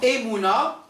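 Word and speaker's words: אמונה: Dans Emouna, il y a exactement 2 syllabes. Emouna. On ne peut pas dire Emouna parce que c'est une semi-voyelle.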